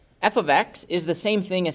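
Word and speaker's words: f(x): so this is pronounced f of x f of x it's not f times x it's not like these things are being multiplied but it's f of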